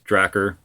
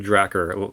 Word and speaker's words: Dracir: of it, but honestly, if you just try to pronounce Rickard backwards, it's Dracir. I don't know, Dracir, like a retarded version of Dracula.